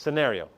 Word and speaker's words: scenario: That silent C just annoys me. So I just say scenario to remind myself how to say it. It's scenario.